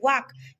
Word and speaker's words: walk: WALK वाक, किंतु आमे पाठ पढुछु कोन? वाक। तेणु केउ अक्षरटी प्रोनाउंसिएशन हेउ नाही, एठारे एल अक्षरटी प्रोनाउंसिएशन हेउ नाही।